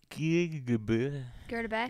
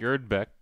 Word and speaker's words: Gerdebeck: Ellen Girdbeck. Gerdebeck. Gerdebeck? Gerdebeck. You pronounce the E in the middle there?